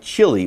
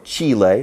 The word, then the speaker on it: Chile: So it sounds like Chile or Chile, both pronunciations are okay.